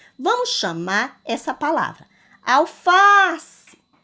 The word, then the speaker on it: alface: Vamos chamar essa palavra alface. Ao pronunciar a palavra alface, eu tenho uma sílaba mais forte, que é a sílaba fá.